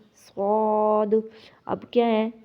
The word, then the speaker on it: ص: اسی طرح ثا، سین، صاد۔ اب کیا ہے، تا کو نرم، سین کو سیٹی کی آواز والا، اور صاد کو موٹا۔ اب یہ تینوں کے